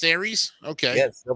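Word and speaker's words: Ares: no ey in there no it's it's still pronounced Aries okay yeah still pronounced Aries okay in order to destroy dark and ensure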